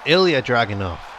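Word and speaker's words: Ilja Dragunov: torpedo headbutt great camera okay it's ilia dragon off that's how you pronounce it dragon off the new new hardcore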